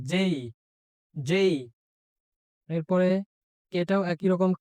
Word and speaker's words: J: এরপরে আমরা জানি এটা ছোটবেলা থেকে পড়ে আসছি যে, কিন্তু এটি যে না, এটির উচ্চারণটা হবে যেই, এবং বর্গীয় জতে একটু চাপ দিতে হবে। যেই।